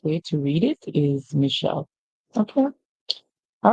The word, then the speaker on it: Michelle: So we hear ish, mish, and then we get Michelle. The end is silent. And this name is popularly pronounced this way.